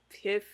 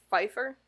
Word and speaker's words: Pfeiffer: Kevin Kline and Michelle Piff. There's a P in front of the F. It's usually the F that you're pronouncing, not the P. Oh, Pfeiffer?